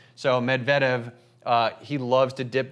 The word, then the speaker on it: Medvedev: look at a guy like medvedev or uh medvedev i guess is how you're technically supposed to pronounce it i've been criticized in the youtube comments so medvedev uh he loves to